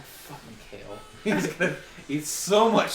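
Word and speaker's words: Cael: Kale.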